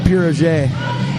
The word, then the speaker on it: pierogi: this little russian holland corner store it's it's pronounced pirogee okay now anyways back to the ghost he